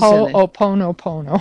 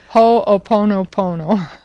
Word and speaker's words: Ho'oponopono: because that's, first of all, I can't possibly pronounce that name. It's got too many N's, too many O's, and too many P's. Ho'oponopono. See, what did I say? Do it again. Ho'oponopono.